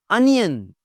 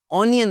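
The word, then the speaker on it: onion: अनियन, अनियन, अनियन, ऑनियन नहीं बोलना।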